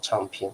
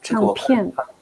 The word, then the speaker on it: 唱片: 那这个我们台湾是念 4 声了哦，唱片。唱片。